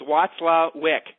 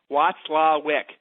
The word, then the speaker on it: Watzlwick: So the way you guys pronounce her last name is Watzlwick. Watzlwick.